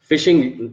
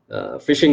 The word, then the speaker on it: phishing: of simple tactic phishing phishing is not a it is pronounced fishing but it's not actually getting the fish phishing is the act of